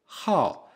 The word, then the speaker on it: 好: et enfin il faut savoir qu'il peut se prononcer au 4è ton ha il a le sens de aimer par exemple